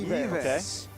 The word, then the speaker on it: Yves: I mean, Filipinos pronounce it as Audience Ives, prediction? So. Yves.